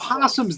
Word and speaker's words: opossum: mating thought were just possums the O is silent you know you're both are saying O possum and I'm like what